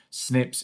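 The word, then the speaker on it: SNP: changed so it's called a snurps or snips or a single nucleotide polymorphism is the proper term snips is how it's often pronounced and what happens is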